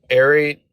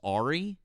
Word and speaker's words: Ari: If you're going to pronounce my friend's name that way, I'm not going to let you stay up here. Her name is Ari.